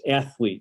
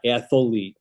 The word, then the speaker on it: athlete: two of them specifically that it was athlete not atholite just the same as it was supposed to be sophomore not sophomore he